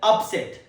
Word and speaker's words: upset: Example, the match ended in a major upset. Upset. The second pronunciation, upset. Upset. It's used as a verb in a sentence and as an adjective in a sentence.